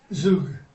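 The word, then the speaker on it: זוג: Zug. I'm sorry? Zug. Zug. Zug. Zug. So it's a U sound? Mm-hmm. Yep.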